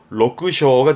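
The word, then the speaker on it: 緑青: 요걸 언급하는 이유는 발음이 로크쇼가 됩니다.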